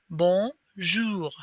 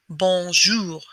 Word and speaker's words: bonjour: are going to try and use your upper lip to force your finger to touch your nose and that's how you know you're doing the o sound right and the r just from the back of your throat instead of from your